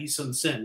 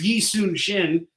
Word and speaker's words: Yi Sun-shin: So there's a lot of people love to spell Yi Sun-shin, Yi Sun-sin, which, you're going to read it and you're going to pronounce it exactly like that, Yi Sun-sin. But like, that's the way they formally like to pronounce it for some reason. I think it's a dialect thing. But if you want to know how to actually pronounce it, it's Yi Sun-shin.